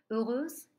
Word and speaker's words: heureuse: Heureuse est un adjectif qui désigne le féminin, qui commence par un H muet, un H qui permet la liaison. Et donc j'entends elle est toute heureuse. Je n'ai pas besoin d'ajouter le E pour entendre le féminin.